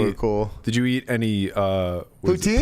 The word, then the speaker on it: poutine: Poutine? Putin? Yes, I did. Poutine. Vladimir Putin. I think it's spelled the same as Putin, to be honest.